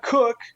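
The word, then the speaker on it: Koch: Christina Cook, you pronounce her last name Cook, apparently.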